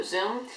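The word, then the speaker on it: Xoom: thing released today was the motorola zoom spelled with an x um anyways this is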